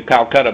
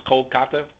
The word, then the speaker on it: Kolkata: looking at Chandigarh and Kolkata, if that's how you pronounce it. I'm used to Calcutta, but it's Kolkata.